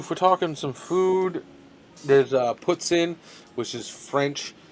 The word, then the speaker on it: poutine: it puts in uh if you're french like i am and uh i used